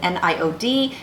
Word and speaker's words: NIOD: you my thoughts on NIOD, that's how I pronounce it, NIOD, NIOD's NAAP, non-acid acid precursor 15%, which is their preferred and recommended form of exfoliation.